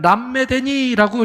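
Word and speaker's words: למדני: 여러분, 우리가 주목해야 되는 것은 가르치소서라는 말인데, 여러분 이 말은 람메데니라고 이렇게 발음을 해요, 히브리어로. 이거는 여러분 때리다, 그리고 벌하다 이런 뜻이에요.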